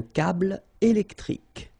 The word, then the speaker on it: câble électrique: Final E here and here are not pronounced. Un câble électrique.